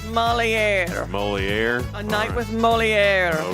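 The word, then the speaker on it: Molière: Moliere.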